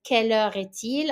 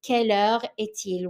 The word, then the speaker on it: quelle heure est-il: the time, the question that you use is quelle heure est-il? I'm going to go back to the first one to show you the pronunciation of the question. It is quelle heure est-il?